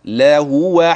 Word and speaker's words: لهو: لي دوت عايز اقوللك خلي بالك من فتحه اللام وضمه الهاء وفتح الواو بعدها لا هو حق اليقين ليه الحركات المتواليه تجعل اللسان ينطق بسرعه طيب النطق السريع ده